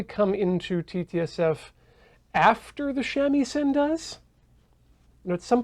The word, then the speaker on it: shamisen: and then play a shamisen. That's how you pronounce that? Yes. Okay. I, a heathen Westerner, was like, shamisen. So the thing about Japanese is that every syllable is stressed equally, theoretically.